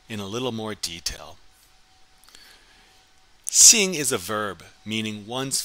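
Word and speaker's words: xin: is Sing Sing so sing which is spelled x i n you should have your tongue should be touching the back of your bottom teeth to pronounce this and you should be making almost a smile with your mouth again repeat after after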